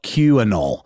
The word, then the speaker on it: QAnoll: It's spelled QAnoll, QANOLL. That is how you spell it. Perfect. The Q is silent.